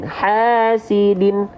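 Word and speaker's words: حاسدٍ: Kalau baris bawahnya 2, seret, ya, maka dia dibaca menjadi pakai N. Hasidin.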